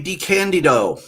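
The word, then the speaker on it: DeCandido: DiCandido. Hey, you pronounced it right.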